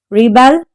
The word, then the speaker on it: rebelled: Rebelled. Stress is on the second syllable.